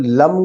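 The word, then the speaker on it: लं: तो मूलाधार चक्र पे ध्यान लगाएंगे और लम का उच्चारण करेंगे। ल ऊपर बिंदु लम।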